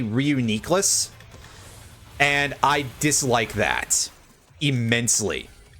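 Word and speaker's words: Reuniclus: Reunicless or apparently I've been informed that the actual pronunciation is supposed to be officially reunias and I dislike that immensely.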